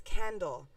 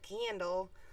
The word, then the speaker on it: Kendall: you mean your name's Kendall? Ooh. And I was like, yeah, I mean, I guess it's not Candle, but now I don't